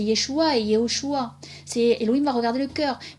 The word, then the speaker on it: Yéhoshoua: Et voilà pourquoi moi je prononce Yehoshua, parce que c'est son nom entier, tout simplement.